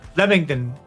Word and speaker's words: Leamington: Leamington. It's pronounced Leamington and Kenilworth.